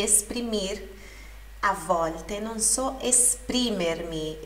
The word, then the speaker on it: esprimermi: A volte non so esprimermi. Esprimermi, sílaba tônica no pri.